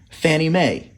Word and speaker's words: Fannie Mae: We pronounce FNMA Fannie Mae.